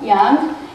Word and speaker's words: yang: those are yin and yang lines the continuous one is yang yang if we really want to pronounce it well young and the broken line